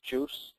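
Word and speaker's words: JeOS: paired down uh version of Linux called Linux juice as it's pronounced just enough OS and it movs a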